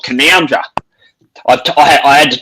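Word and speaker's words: Canowindra: d r a I've The N O W I N part is pronounced N O U N.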